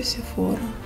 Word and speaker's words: Sephora: Как правильно говорить, Sephora или Sephora? Я говорю Sephora.